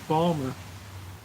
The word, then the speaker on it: Baltimore: funny Baltimore thing balarie the thing is in Baltimore e you just drop a syllable in a word so Baltimore becomes Balmer come visit us in